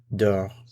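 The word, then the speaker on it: dors: Notice it's the same form, same pronunciation. Dor, dor. Je dor, tu dor. Il, elle, on dor. Same pronunciation, different spelling.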